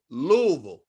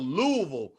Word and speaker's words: Louisville: muhammad ali but of course yes but they pronounce it louisville yeah louisville what not even a veal like v-u-l-l louisville that's how they pronounce it so she's from